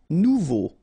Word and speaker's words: nouveau: Nouveau. Remember, combination of A and U together, it's O. So you get nouveau.